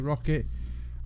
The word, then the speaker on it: Roccat: Some people pronounce it Roccat, some pronounce it Rocket.